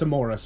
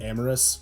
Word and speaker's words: Amoris: It's Amoris, by the way, which I know it's, like, spelled like Amor... I tried doing the weird spelling, so it didn't sound like amorous, because amorous is also, because...